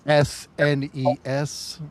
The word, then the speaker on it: SNES: SNES for Megan. SNES. Yeah, you gotta say it right, buddy. Say it right, buddy. But yeah, Snez.